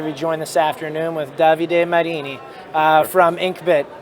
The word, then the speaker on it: Davide Marini: i'm happy to be joined this afternoon with davide marini uh from inkbit how are you doing today